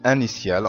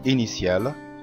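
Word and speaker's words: initial: إنيسيال إنيسيال، ما أقولش أنيسيال غلط، إنما أقول إنيسيال لأن جه وراء حرف متحرك.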